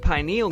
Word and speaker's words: pineal: Your pineal gland, also pronounced pineal gland, emphasis on pine, is a tiny little pine cone-shaped gland right in the middle of your brain hemispheres.